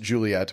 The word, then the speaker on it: Juliette: They decided to name their daughter Juliet, pronounced Juliet, but spelled Juliette.